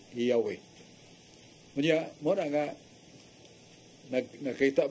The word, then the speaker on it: Yahweh: Nga mo nang malitok na sa Yod, He, Waw, He, patra ka litra sa Hebreo, can be pronounced Yahweh.